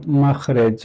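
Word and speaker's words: مَخْرَج: And then from this, then we have makhraj or makhraj. Sometimes both pronunciations are correct.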